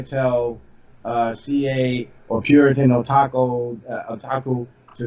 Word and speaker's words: Otaku: Yeah, did I mispronounce the name? Is it Otaku? Yeah, Otaku.